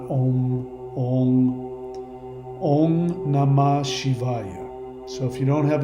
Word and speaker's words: Om Namah Shivaya: If you followed me, this is the actual pronunciation that you want to do. Om Namah Shivaya. O-N-G. Om, not Om. Om. Om Namah Shivaya.